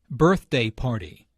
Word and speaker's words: birthday party: the adjective excited here birthday party notice that the normal stress for a compound noun falls on the first element of the compound aren't you this negative